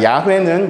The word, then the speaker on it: 야훼: 자, 야훼는 여호와를 말합니다. 근데 여호와를 조금 더 그냥 원문 그대로 읽으면 야훼라고 읽습니다.